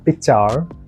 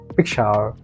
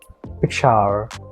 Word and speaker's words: Pixar: first one is Pixar don't say picture try to say picture Pixar listen carefully and then repeat after me pick shower picture it's a visual